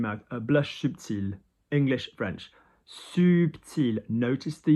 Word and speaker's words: subtil: Subtil, notice the L, I-L, although I said you don't pronounce consonants at the end of the word. L is one of the ones that you do. So blush subtil.